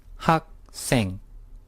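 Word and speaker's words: 학생: which means I next word ages didn't it's pronounced hawk sing repeat after me Hawk sing ha sing the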